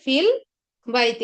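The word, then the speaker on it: في البيت: তো এখানে ফিল বাইতি উচ্চারণ হবে হচ্ছে ফিল বাইতি।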